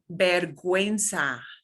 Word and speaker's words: vergüenza: And this is even lower frequency, but some of the words that you may hear most frequently, it means we do pronounce the U.